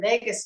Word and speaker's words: vagus: be glad to so the Vegas nerve is they call it a Wanderer and um it's funny because you know Vegas is like wander but it's spelled a little different vus um the Vegas